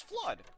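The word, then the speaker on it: FLUDD: Mario with the washer it name is flood cuz it likes to flood the area with water get it cuz I did as a kid though it's spelled weird spell f l u d d FL as they would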